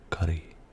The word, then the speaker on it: Currie: Again, there's a place called Curry in Edinburgh, and we call it curry, just like a curry.